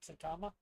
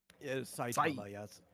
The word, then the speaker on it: Saitama: Satama. Saitama. He's named after the Saitama Prefecture. That's a good guess. Is there anyone else? Yeah, actually the latter half should be said quicker. Saitama, but we're not speaking Japanese here.